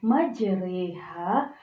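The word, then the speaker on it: مجريها: kita baca dia menjadi majreha nah sesuai dengan yang Ustadzah Novi Sebutkan diawal tadi bahwa kaidah imalah adalah mau miringkan bacaan Fathur menjadi katsrah jadi teman-teman seolah-olah kita membacanya menjadi huruf e seperti Ustadzah ulangi majreha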